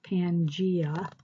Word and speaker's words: Pangaea: this before but it's called Pangea this is pronounced Pangaea and what Pangaea is is a large supercontinent